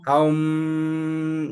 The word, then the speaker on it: Aum: el au estas tres sílabas aum, ¿no?